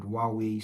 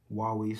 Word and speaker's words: Huawei: Oh, Huawei store. Well, if anything, I learned how to pronounce Huawei today. I didn't know it was um I didn't know the H was silent.